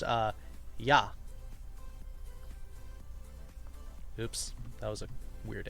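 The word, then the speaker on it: 矢: the romanized uh yeah usually this this is pronounced uh yah oops that was a weird a yah is how you say Arrow this is normally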